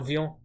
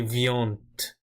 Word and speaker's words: vient: You never pronounce it. So you wouldn't say vient. You always say vient.